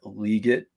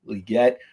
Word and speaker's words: Legette: can hit especially if Xavier legit that's the way he pronounces his last name although we love to say legette if he hits and he finds his stride.